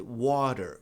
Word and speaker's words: water: Então, a pronúncia de água vai ser water.